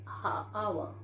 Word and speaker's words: hour: We say hour. H is silent here.